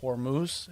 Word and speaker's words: Hormuz: And of course, everybody knows, the geographical challenges in, over there in the Strait of Hormuz is what it's called. Yeah. Yep. It's pronounced correctly.